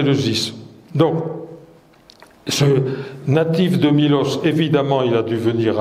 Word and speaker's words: Milos: Méos en grec voilà c'est mlos avec un état le état se prononce i donc en grec moderne on dit Milos nous l'avons francisé et